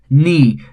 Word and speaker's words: knee: initial k is silent knee again initial k silent come again the